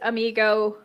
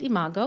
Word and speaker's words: imago: tell me what is amigo relationship therapy well it's pronounced imago imago sorry thing you